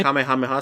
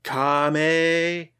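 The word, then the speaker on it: かめはめ波: But no, when the final one, he's like Kamehameha like that. Like instead of like emphasizing different syllables of Kamehameha like the Japanese usually do, they say it the American way with emphasis.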